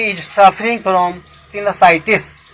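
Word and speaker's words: sinusitis: Next word सिनसाइटिस। देखो यह साइनस शब्द से लिया गया है, लेकिन ITIS लगने से सिनसाइटिस इसका प्रोनाउंसिएशन होता है।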